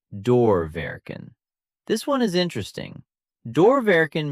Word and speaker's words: doorwerken: Pronounced doorwerken.